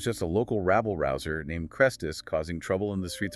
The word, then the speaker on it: Chrestus: Now, Chrestus, with an e, is a very common Greco-Roman name meaning good or useful, but it sounds almost phonetically identical to Christus, the Greek word for Messiah.